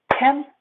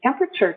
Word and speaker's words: temperature: for you temperature temperature it has or syllable temperature temperature four syllables the thing is when we speak quickly like this i want to tell you temperature today temperature i go short to three syllables temperature temperature the temperature